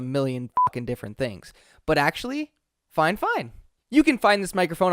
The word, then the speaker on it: FiFine: assume that that is fine fine instead of five fine fifa n-- whatever dude i've heard it called a million different things but actually fine fine you can find this microphone on amazon for